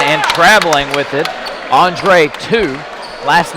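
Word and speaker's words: Tie: traveling with it Andre 2 last name is spelled TI e but the coach has helped me out told me that is pronounced just like the number two in the front court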